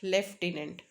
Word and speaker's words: lieutenant: तो लेफ्टिनेंट and sound is एफ, लेफ्टिनेंट.